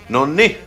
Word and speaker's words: no niin: If you put the emphasis on the last one, like nonni, then you're saying that you were correct.